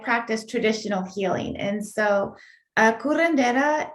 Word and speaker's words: curandera: Am I saying it right, curandera? Kurendera. Yes.